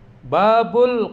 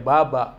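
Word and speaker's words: بابُ: Babul qasri. Kalau babu, kalau di awal ya bacanya dhammah. Babul, babu. Nggak boleh dibaca baba atau babi, nggak boleh.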